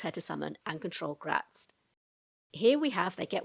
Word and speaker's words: Graz'zt: another powerful demon, Prince Gratzt, or Grazit, depending on how you pronounce that. I've heard it done both ways, but I'm going to go with Gratzt.